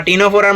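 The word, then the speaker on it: Ctenophora: এরকম আমার হচ্ছে টিনোফোরা টিনোফোরার মধ্যেও সামনে একটা সি আছে টেনো ফোরা টিনোফোরা আর হচ্ছে সিলোনা মানে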